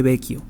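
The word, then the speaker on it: Vecchio: puente bequio o vechio se escribe como vechio con doble c pero es creo que se pronuncia como el puente o el ponte bequio y ahí Bueno pues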